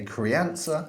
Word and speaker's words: Crianza: we're going to talk to you about a Cree answer is how you pronounce it uh crayon though yeah so this particular rocker comes in at eight pounds 50.